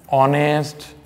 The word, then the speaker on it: honest: for example and our and they are an honest person so here you can see there is